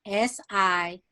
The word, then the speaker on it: sigils: mentioned it to me it is spelled s-i-g-i-l-s okay go ahead yes sigils okay right thank you for